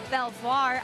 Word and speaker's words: Belvoir: on the Potomac River they said you do pronounce the r at the end and a pretty important